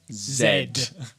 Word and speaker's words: Z: going to repeat again Zed cuz that's the real way to say it right uh who's